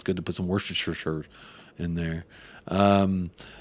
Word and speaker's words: Worcestershire: good to put some Worcestershire in there um we're worse the sauce is right way to say it made from anchovies close